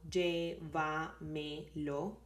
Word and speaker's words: llévamelo: This one have 4 syllables. So llévamelo, llévamelo. And the stressed in that word is in y. And you have the tilde there, so it's not llévamelo, but llévamelo, llévamelo.